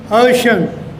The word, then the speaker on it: ocean: This stands for sh, ocean.